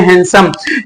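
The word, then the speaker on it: handsome: लेकिन वेडनेसडे पढ़ते हैं हैंडसम लिखा होता है लेकिन पढ़ते हैं हैंडसम और ऐसे ही जो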